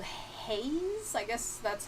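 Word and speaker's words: HAES: that is um uh this this movement called haze i guess that's how i that's how i pronounce it in my head h-a-e-s health at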